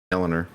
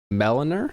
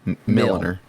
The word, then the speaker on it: milliner: Milliner. Meliner? That- Like Melanie? Mill. Like Mel? Like mill. Milliner.